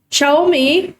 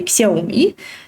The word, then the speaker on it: Xiaomi: Just for those who are interested in more pronunciation things, Xiaomi is another interesting example. In Russian, we say Xiaomi, and in English, we would say that the Chinese way.